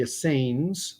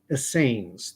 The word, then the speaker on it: Essene: you're unfamiliar completely unfamiliar with the Asain that's the way I'm going to pronounce it they were a monastic